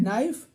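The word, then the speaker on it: knife: silent है यह है नाइफ नाइफ में के साइलेंट है ये इसको पढ़ेंगे वाक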